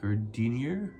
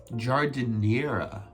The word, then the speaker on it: giardiniera: Gardenier? How to pronounce? Giardiniera.